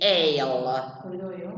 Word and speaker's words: aisle: This is A-I-S-L-E, but you don't pronounce the S, is ale.